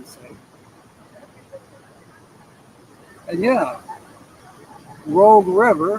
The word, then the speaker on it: Rogue River: the same and yeah Rogue River is where I'm at in Rockford but some people call it the Rouge River well that's on the